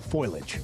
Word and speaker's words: foliage: We're running out of time for the fall foliage. The fall what? Foliage. Okay. Is it foliage or foliage? It's foliage. Foliage. It's three syllables.